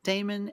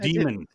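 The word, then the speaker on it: Daemon: Damon X Machina Titanic Scion. I said it. Demon. Demon X.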